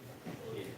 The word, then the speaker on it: Gil: Gil, it's pronounced as Gil.